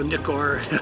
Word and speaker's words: Nikkor: brought the 105 millimeter macro or micro nikor micro nikkor as it's sometimes pronounced and got real into